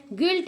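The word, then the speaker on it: guilt: एस को पढ़ते हैं गिल्ट में गिल्ट मीन अपराध होता है यहां पे भी हमारा क्या हो जाएगा यू साइलेंट है और गाइड में भी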